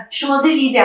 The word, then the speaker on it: Champs-Élysées: Champs-Élysées, Champs-Élysées, Arey yaar, come on, why are you going to write all these syllables if you're not going to pronounce them? And like, we don't know that there are so many silent letters in.